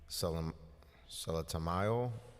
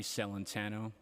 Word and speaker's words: Celentano: Everybody else does too. Just repeat your name for the record and you may begin. It's Celentano.